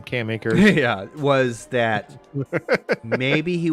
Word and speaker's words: Cam Akers: That's how you pronounce his name, Cam Akers.